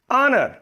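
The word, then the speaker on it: honor: ठीक है, अब ये देखिए यहां पर वर्ड है ऑनर, इससे पहले हम क्या इस्तेमाल करेंगे, ऑनर, एन ऑनर, एन ऑनर।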